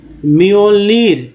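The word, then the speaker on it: Mjölnir: है तो मियोलर, मियोलर, ठीक है, जो है साइलेंट हो गया, मियोलर। नेक्स्ट जो है तो मियोलनीर, मियोलनीर।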